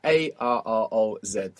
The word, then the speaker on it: arroz: So if you're confused on how to pronounce rice, just remember Ross. Arroz. Arroz. And then just roll it.